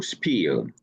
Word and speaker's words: spiel: It should be pronounced in English exactly that, as I was told in the noon talk. So SPIEL.